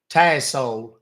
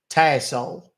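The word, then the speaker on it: Tassole: and then my last name is pronounced tle it's French uh t uh t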